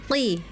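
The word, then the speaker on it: قِ: Hati-hati ketika mengucapkan huruf qf berkasrah ya. Seperti terdengarnya tadi seperti huruf kaf ya. Memang qof dan kaf ini makhrajnya berdekatan ya. Sama-sama dipangkal lidah. Tetapi kaf itu pangkal lidah paling belakang, sedangkan kaf sedikit di depannya. Ya, ketika qf berkasrah memang anak-anak kadang ee seperti huruf kaf gitu ya. Qi harusnya qi ya.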